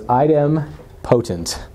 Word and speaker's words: idempotent: I actually had to look up how to pronounce this word. I've seen it. So it's idempotent.